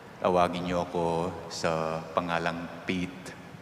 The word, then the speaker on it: Pete: Kung gusto nyo pong panggandahin ang pangalan ko, tawagin nyo ako sa pangalang Pete. Hindi po P-I-T kung hindi P-E-T-E. Pero kung bigkasin ay Pete, huwag pong bigkasin sa Kapampangan.